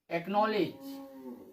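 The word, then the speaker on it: acknowledge: कब, जब सी के बाद के या क्यू आता है तो सी का उच्चारण हम नहीं करते हैं।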